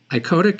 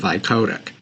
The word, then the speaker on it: icodec: called insulin ioic spelled i o d c iotic is an ultra long acting insulin that only